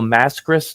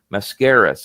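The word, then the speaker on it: Máscaras: And I remember I couldn't pronounce his name. I said, "Oh, Mil Mascus." No, Mascaras.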